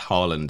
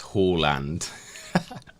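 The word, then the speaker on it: Haaland: uh guess what Ben apparently we've mispronounced Harland as well apparently it's Hall land Holland I'm staying my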